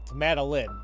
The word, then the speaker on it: Madeline: pronunciations before but I keep switching out my pronunciations is it Madeline okay but yeah she had a panic attack